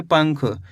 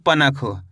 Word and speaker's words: पंख: के साथ निकालना है, ऐसे नहीं पढ़ना आपको पनख। अगर पनख पढ़ोगे तो यहाँ पे ना का पूरा उच्चारण हो गया, तो ये गलत हो गया। आपको करना क्या है? आधा उच्चारण निकालना है, पंख।